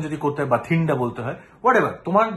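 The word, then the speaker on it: Bathinda: তুমি মোবারক তোমার সমস্যা তুমি ভাতিন্ডা মনে রাখো ভাতিন্ডা বানান এখানে বি এ টি এইচ আই এন এ আমরা বাংলায় ভাতিন্ডা বলি একচুয়ালি এখানে উচ্চারণ যদি করতে হয় বাথিন্ডা বলতে হয় হোয়াট এভার তোমার যেভাবে মনে রাখো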